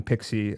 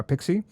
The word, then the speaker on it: PKCE: Uh you should be using P uh Pixie. Uh Pixie, it's pronounced P, it's written PKCE if I remember correctly, not PXIE like maybe some of the people may be thinking.